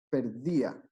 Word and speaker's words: perdía: sílabas no dos cierto no es perdía sino que es perdí a tres sílabas entonces como se separa